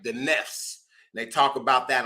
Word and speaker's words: nafs: which are the knots they actually pronounce it Nest but it's spelled nafs I don't know why